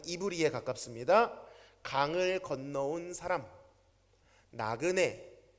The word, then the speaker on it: 히브리: 발음은 이브리에 가깝습니다.